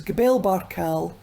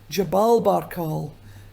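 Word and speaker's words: Jebel Barkal: By the way, I must say that the name of this place can be pronounced in different ways because Gabel Barcal is the Egyptian dialect of the Arabic language. Jabalb Baral is Sudanese. So it can be both.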